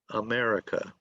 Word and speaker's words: America: Where's the stress? Is the stress on syllable 1, 2, 3, or 4? America. Okay, good, Two. good. Okay, let's see. America. America. Okay, so it's on the second syllable.